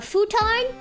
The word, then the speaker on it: futon: A futon? Yeah, it's spelled F-U-T-O-N.